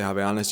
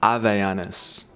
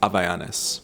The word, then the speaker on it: Havaianas: In the West and in English, obviously the H isn't silent when you say something like Havaianas, but in Portuguese, if you were to pronounce Havaianas, you don't say Havaianas, you say Havaianas.